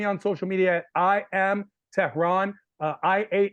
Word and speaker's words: Tehran: social media I am Tehran uh i a m t e h r a n my name is Tehran like the capital of Iran so if you don't